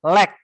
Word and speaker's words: lack: Bukan like bacanya, lack. Kalau like itu suka. Kalau ini bacanya lack.